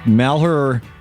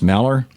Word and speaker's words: Malheur: taken over the um maler I think that's how it's pronounced maler a national re Wildlife